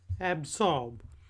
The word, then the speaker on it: absorb: आज का पहला वर्ड है एब्जॉर्ब। एब्जॉर्ब के स्पेलिंग है AB एब और SORB जॉर्ब। एब्जॉर्ब, इसमें जो एस की आवाज़ है वो थोड़ी सी जेड की तरफ जाती है।